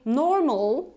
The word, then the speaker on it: normal: pronunciation because you see in the British variety we actually don't pronounce in most cases this ah sound that's why I'm not saying normal right that would be American I'm saying normal normal it's like saying better at the end I'm not saying better